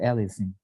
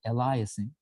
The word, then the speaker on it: aliasing: pronouncing it it's called aling Uh in Middle Eastern and tur in Turkish way people usually tend to call it Elias which is not correct it's aling so just